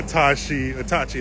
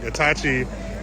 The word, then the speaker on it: Itachi: When she started out, I think she just started out with decals and stickers and grew to Sasuke, Itachi, I said it wrong, Itachi, Madara, and whoever else is on her car.